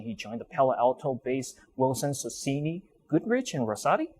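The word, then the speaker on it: Wilson Sonsini Goodrich & Rosati: Following his graduation, he joined the Palo Alto-based Wilson Sonsini Goodrich and Rosati. Am I pronouncing that correctly? WSGR, okay. yes.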